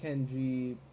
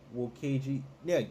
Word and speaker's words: Keiji: Mark and Kenji, Keiji, I'm sorry, I've been pronouncing that wrong. It's Keiji.